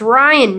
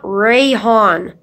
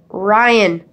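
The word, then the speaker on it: Raihan: It's Ryan, not Rayhan. Ryan. R-A-I-H-A-N. It's just simple phonetics. Ryan.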